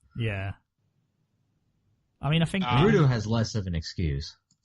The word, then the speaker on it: Boruto: Well, see, the thing is, we have Boruto, which is the Japanese pronunciation of bolt, which is why there's a bolt in the O in his name.